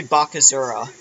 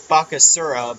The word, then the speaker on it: Bakasura: like physical character maybe it's probably bakazura i probably it's bakasura but i pronounce asses like zees sound mccann's in and that's